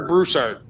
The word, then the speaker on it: Broussard: Broussard or Broussard?